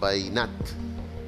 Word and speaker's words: veïnat: El veïnat. Veïnat. Tres síl·labes. Per tant, dièresi a la I.